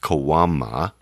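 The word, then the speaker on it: caguama: is is a kawama it's spelled c-a-g-u-a-m-aims pronounced kawama and in reality a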